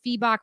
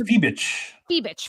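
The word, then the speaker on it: Fiebich: Natasha Cloud and Leonie It's Feebach. I always mispronounce it. I think it's Feebich.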